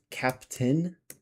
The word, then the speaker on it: captain: You also have captain where you just say the i but you forget the a and you drop it.